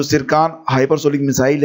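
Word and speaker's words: Tsirkon: पहला क्वेश्चन है देखिए सिरका हाइपरसोनिक क्रूज मिसाइल का संबंध किस देश से है यहां पर टी जो है साइलेंट है याद रखिएगा इसको लिखा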